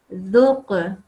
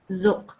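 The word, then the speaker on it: ذُقْ: So this one is dhuq, not zuq. So you sort of carry the sound on just to make it more beautiful. Dhuq, tuhit, farghab, not farghab, farghab, ukhruj, lam yalid.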